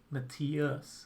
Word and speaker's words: Matthias: Matthias is how I say my name.